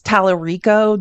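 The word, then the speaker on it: Talarico: And his name is just, if you want to follow him on Tik Tok, James Talerico, just like it's spelled T A L A R I O.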